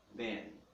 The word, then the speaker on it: then: mesmo com o M, no inglês não. Terminou em M, é M. Terminou em N, é N. É como se fosse um gráfico aberto, ele vai fazendo um fade. Aqui não, ele fecha.